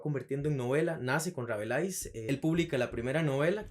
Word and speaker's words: Rabelais: francés se debe pronunciar Rabelais.